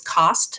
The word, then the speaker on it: Coste: last name is actually, my last name is Coste, is actually pronounced that way in French.